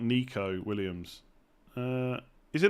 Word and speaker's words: Nico: which one it is, but you would just spell it the same way. Is it Nico Williams? It's Nico.